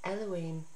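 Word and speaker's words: אלהים: must know is that the name which is written with the letters jorte van gaay and is pronounced as elohim reflects its essence for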